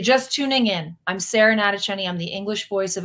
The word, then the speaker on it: Natochenny: you can just search my name it's Sarah natacheni it's up here if you can't spell it just Google voice of Ash you'll see